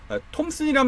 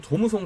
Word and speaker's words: 톰슨: 톰슨은 그 톰슨 장비에서 유래한 말입니다.이 톰슨 장비를 일본식 발음으로 도무송 도무성 자꾸 불러서 도무성이 좀 됐고 어 그래서 이제 도무성 스티커라는 것도 이제 많이들 어 이렇게 말씀하시죠. 하지만 이제 도무성보다는 톰슨이 좀 더 정확한 표현이고 그래서 제가 공장을 다니면서